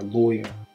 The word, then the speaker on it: lawyer: So we're gonna pronounce the R, lawyer.